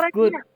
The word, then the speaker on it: read: The book I read bacanya redak itu verb du nak. Bacanya red itu verb 2.